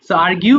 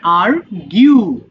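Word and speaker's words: argue: আরগিউ মানে তর্ক করা। আর তবে এটা অনেকে ভুল করে আর বলে। যে তুমি আরগু করছো কেন? আসলে উচ্চারণটা হবে আরিউ।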